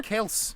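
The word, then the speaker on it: Kelce: It's actually just Kelse. It rhymes with Els, but it was his dad. Yes. Folks started calling him Kelsey and they never corrected them.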